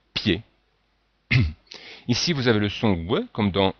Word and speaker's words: pied: se prononcent ye, fille, ou même pied, puisqu'en fait ici on a le i et le e, mais on ne dit pas piller, mais on dit pied.